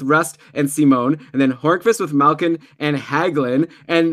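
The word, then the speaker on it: Hörnqvist: by the way Patrick Horace is back also I didn't pronounce his name right it's actually Patrick harvest I learned from some Swedish friends yesterday who I met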